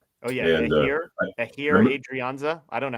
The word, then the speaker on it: Adrianza: Uh you know in Spanish the h is usually silent.